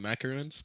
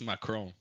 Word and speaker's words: macaron: Like people call them macaroons. They're not called macaroons. It's it's macrome. That's the correct pronunciation.